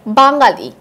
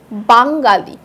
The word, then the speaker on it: বাঙালি: বাঙালি, বাঙালি উমো আছে, কিন্তু উচ্চারণটা হচ্ছে কি আং এর মতো।